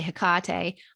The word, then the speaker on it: Hecate: work with hecate now you can say her name some people say hikate i say hecate a lot of people